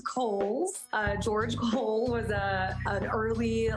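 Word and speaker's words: Cowles: It is pronounced Coles. George Cole was an early land owner developer out in the East County area. So Coles Mountain, like the department store.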